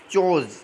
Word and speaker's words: chores: तो अपना 6 नंबर में देखिए, 6 हो जाएगा चोज, यानी काम करना, CHORES, चोज, प्रोनाउंसिएशन चोज होगा, इसका ध्यान रखा, चोज मीन्स काम।